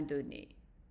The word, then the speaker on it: donné: And donné, make sure that you don't pronounce the A longer. It's just short A.